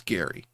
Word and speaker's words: Gari: Uh g a r i pronounced Gary.